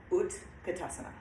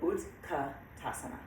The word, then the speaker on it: Utkatasana: So the fourth pose we did was Utkatasana. And I say it like that because it's UT. It's kind of, no, yes, okay. Sorry, I get that mixed up in my head. But, so Utkatasana, chair pose, awkward pose.